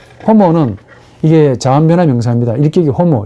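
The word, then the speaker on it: homo: 옥격은 삼격하고 동일하고 혹격도 주격하고 동일한데 자, 이런 형용사가 호모라는 인간이라는 아주 많이 나오는 인간이라는 이 명사와 결합하면 어찌 될까? 호모 여러분 아시겠죠? 이 호모가 인간이라는 말입니다. H가 묵음이 아니고 H 앞에 놓으면 호모가 이제 발음해줘야 돼요.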